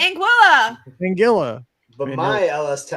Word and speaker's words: Anguilla: alice tucker oh and it rhymes with vanilla so it's in tiga and tilla there's no tea it's anguilla angela but my it's